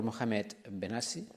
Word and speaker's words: Mohamed Behnassi: Mohamed Behnassi. I think that I pronounced it correctly.